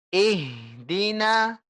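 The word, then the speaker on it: اهدنا: kasih jarak bu ya jangan kasih jarak antara ih dengan di begini misalnya ih Dina ih kosong gak ada suara gak ada angin Dina jangan anginnya harus ada terus sampai kita ngomong si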